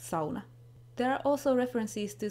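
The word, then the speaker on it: sauna: Then of course the sona is mentioned which in Finnish is pronounced sona.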